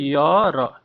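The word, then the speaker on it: year: बोली पढुचे ई और किंतु सेटा एक्चुअली ईयर नुहे, सेटा होची यर, तार उच्चारण इंग्लिश उच्चारण होची यर, तेणु या पूर्वरु भी आपनकर ए रहइबो।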